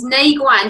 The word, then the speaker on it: Nei Guan: So Shen Men and Nei Guan.